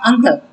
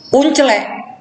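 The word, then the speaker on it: uncle: Kalau yang belajar bahasa Inggris akan belajar bacanya angkel. Tapi yang nggak pernah belajar bahasa Inggris, uncelek, ya kan gitu kan? Tulisannya kan uncelek. Nah, untuk orang yang pernah belajar bahasa Inggris, itu bukan uncelek, angkel.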